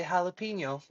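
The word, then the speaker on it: jalapeño: And yes, when I say jalapeno, I do do jalapeno because that is the correct pronunciation of jalapeno.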